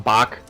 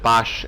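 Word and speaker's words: Basch: who's riding right now his name is Boche or some people call him bak I have no idea why please don't ask me but the game pronounces it bosch and I've always been so far so it's probably bosch yeah he's a main character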